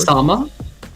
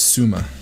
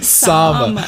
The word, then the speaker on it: Sama: Sama. That way Daniel knows how to pronounce it going forward. Because kid you not, I thought it was Suma. It's 2 A's. Yeah. Sama.